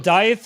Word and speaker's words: Dieth: Dieth is how to say it, yes.